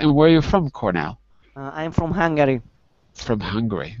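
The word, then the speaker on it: Kornel: We have, oh my goodness, I can't pronounce your name. Hi, Eric. My name is Cornell, not.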